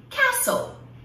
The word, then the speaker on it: castle: Agora, existem algumas palavras em inglês e que o T, ele não deve ser pronunciado. Provavelmente lá no passado, esse T existia, ele era pronunciado, mas hoje em dia, não. Então, se você vira o T ali, pula ele, finge que ele não existe. Isso aí, como em essas palavras, castle, castle, castelo, Christmas, Christmas, que é Natal.